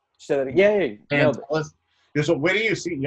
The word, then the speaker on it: Pantelis: Pantelis.